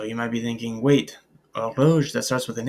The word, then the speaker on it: horloge: So you might be thinking, wait, horloge, that starts with an H. But like I said, this begins with a vowel sound. And in French, the H's are almost never pronounced, rarely ever pronounced.